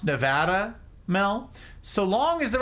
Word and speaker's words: Nevada: But Americans can't keep mispronouncing Nevada. It's Nevada, not Nevada. In fact, you get run out of this state by calling it Nevada.